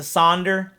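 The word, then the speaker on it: Sonder: again if you guys have not listened to saunder into that's spelled s o n d e r dash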